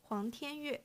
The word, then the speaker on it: Huang Tianyue: C&P sophomore Huang, or as it's literally pronounced, Huang Tianyue.